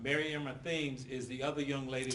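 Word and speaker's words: Thames: all right Mary Emma themes is the other young lady lost life yes right and the name is spelled t h a m s it's pronounced Tims Tims and your information is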